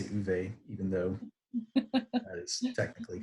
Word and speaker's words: Ove: I know Uve is the correct pronunciation, but every time I say it, I feel pretentious, like it's not. Like, come on, man, you're American. Just say Ove.